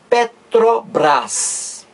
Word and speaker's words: Petrobras: estou perguntando tudo ó eu digo Petrobras Petrobras eu não digo eu não pronuncio cada letra separadamente não eu não digo